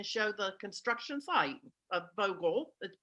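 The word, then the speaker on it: Vogtle: the construction site of vogel the t is silent it's pronounced vogel um i want to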